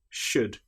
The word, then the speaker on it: should: Another time when the letter L is not pronounced is when we have the letters U, L, D. For example, the word would, could, should. In these cases, again, the L is completely silent.